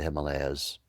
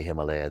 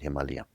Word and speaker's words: Himalaya: It's just comes straight off the Himalayas. In India they don't say Himalaya, they say Himalaya. It's the proper way of pronouncing it. Himalayia.